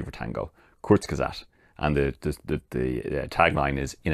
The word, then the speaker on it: Kurzgesagt: a car channel, but it's a channel called Kurzgesagt. Which, I'll probably spell that out for you because, I'll say it again, Kurzgesagt.